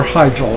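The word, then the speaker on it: Hyjal: Mount Shal. Well, or hyel as people like to pronounce it.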